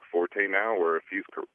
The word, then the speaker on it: forte: and so he says you're supposed to pronounce it Fort instead of forte and uh I've never